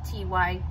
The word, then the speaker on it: Ty: in articles, it's not T-Y, capital T, capital Y. It's capital T, lowercase y, meaning it's not an acronym, it's just Ty.